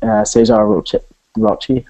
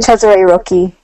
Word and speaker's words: Cesare Rocchi: Cesar Rocchi, I can never pronounce his surname. Cesare Rocchi. Yep, thank you, Judy.